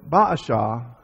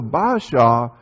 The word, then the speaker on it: Baasha: And so Baasha, and that's how I pronounce it, it may be pronounced differently, but Baasha, he was king now of the northern kingdom.